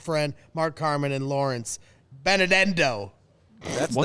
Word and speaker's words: Benedetto: I get to hang out with my good friend Mark Carman and Lawrence Benedetto.